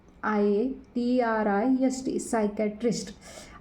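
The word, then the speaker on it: psychiatrist: eighty R आय एसटी सायकट्रिस्ट आता सायकटिस्ट म्हणजे याच जी स्पेलिंगची सुरुवात आहे ती पी ने झालेली आहे एस ने झालेली नाही लक्षात ठेवायच सायकट्रेस्ट असं त्याचं इंग्रजीतून नाव आहे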